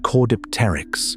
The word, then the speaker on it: Caudipteryx: The second dig produced a specimen called Caudipteryx, pronounced core-dip-ter-yx. This one wasn't just fuzzy,